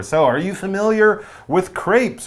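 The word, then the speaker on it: crêpes: are you familiar with Crepes or crap to give them the proper French pronunciation because they are French it says these French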